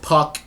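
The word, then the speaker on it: Pück: Now, that particular episode, when I saw the episode title had an umlaut in the U, so I thought I pronounced it differently, but no, it's just Puck.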